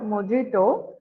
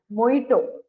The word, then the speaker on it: Mojito: பட் இட் இஸ் நாட் மொஜிட்டோ. You have to pronounce it ஆஸ் மொய்டோ. Okay. J வந்து silent இங்க.